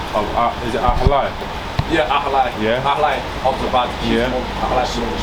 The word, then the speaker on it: Ahlai: Yeah, Ahlai.